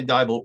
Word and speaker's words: Deibel: just uh texted me tiny diable rhymes with bible because it's not spelled that way at all but she just texted